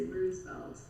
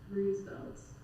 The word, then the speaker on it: Roosevelt: the boulevard's name, because I don't say Roosevelt or Roosevelt, I just say Roosevelt. Just Roosevelt Boulevard, Roosevelt, no F sound in between.